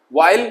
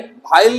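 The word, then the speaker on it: while: वाइल, भाइल नहीं वाइल, वाइल जबकि, उस तरीके से वाइट नहीं वाइट सफेद, वेयर कहां।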